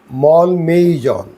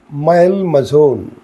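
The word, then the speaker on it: Malmaison: इस शब्द का अंग्रेजी में उच्चारण है मॉल मेजॉन, तो अमेरिकन भाषा में इसका उच्चारण है महल मजोन।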